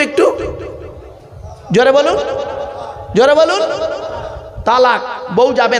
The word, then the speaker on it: তলাক: শব্দরা বলেন তালাক, খবরদার শব্দটা তালাক নয়, তালাক নয় শব্দটা, শুনে যান। শব্দটা হলো তলাক। তলাক কি বললাম? তলাক বলো। আরবি উচ্চারণ কি? তোয় লামালিপ কফ। বাংলা উচ্চারণ কি? তয় বয় লয়াকার ক।